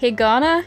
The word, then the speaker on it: Higana: sort of iguana thing Hagana it kind of sounds like the word hiragana but I wasn't a